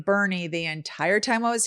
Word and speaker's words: Boerne: Boerne is spelled Boerne, not to be confused with born, which I did on the very last day of our trip. I actually said born to someone, and I was so